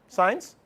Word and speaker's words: sine: uh how about sign it's pronounced sign Catholic friends don't even